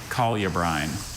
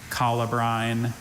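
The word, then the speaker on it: colubrine: Collabrin. Can I have the origin? It's from Latin. Any alternate pronunciations? I have three variants. Collabrin, calibbrine, and calibbran.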